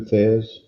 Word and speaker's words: Thesz: Aliosis Martin Thez, I probably butchered his first name. Went by Lou Thez in his professional career.